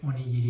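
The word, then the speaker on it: おにぎり: بذارید امتحان کنیم این کلمه رو شما چطوری تلفظ می‌کنید درستش تاکایاکی هستش و یا این یکی درستش اونی‌گیری هستش و همین طور این یکی کلمه درستش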